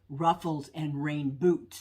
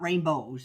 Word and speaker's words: Ruffles and Rainboots: again and I think I was mispronouncing uh the name of Sarah's uh YouTube channel is Ruffles and rain boots not rainbows I've got rainbows always